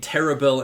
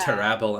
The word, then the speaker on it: Terrabil: Yeah, I always imagined it was like Tintagel in my head, but Yeah, I was thinking Terrabil and Tintagel, but no, it's Yeah. Terrabel and Tintagel.